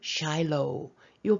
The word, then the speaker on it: Shiloh: 여기에 도시 하나가 있어요 실로라고 하는데 영어는 샬로우요 발음 좀 조심해 주시고요 자 이제 이야기